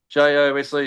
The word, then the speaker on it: Jose: J-O-S-E is pronounced Jose.